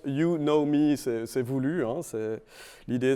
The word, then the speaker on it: Unomi: partie des services donc au niveau de l'unami donc là j'ai juste dit ça c'est pour les surtout pour les américains donc ça se prononce yunomi s'est voulue ans et